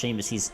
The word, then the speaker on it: Seamus: It has an A in it. S-E-A. That's how you spell C. I agree, but it's pronounced Seamus. He's Irish, I believe.